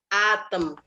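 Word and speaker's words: атом: Kata berikutnya ada atom. Atom. Atom. Ya, penekanannya di A ya.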